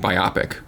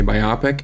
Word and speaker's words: biopic: and I I got in trouble for saying biopic also I think you just got to just commit you know you're going to say things different than other people I say Nevada I say biopic and I call small moving pictures gifs it's